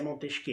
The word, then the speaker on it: Montesquieu: ao pé da letra se escreve né montesquieu mas se pronuncia montez que então moto isqueiro e